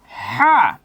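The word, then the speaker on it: ح: হা। হা। হা। হাটা যখন উচ্চারণ করবেন একটু খেয়াল করবেন, হাটা একটু গাঢ় করে উচ্চারণ করতে হবে।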